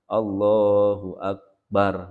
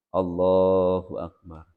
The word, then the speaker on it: Allahu akbar: Jadi mengucapkan Allahu akbar, bukan Allahu akbar atau Allahu akbar. Allah atau Allahu akbar. Tapi Allahu akbar. Barnya pendek.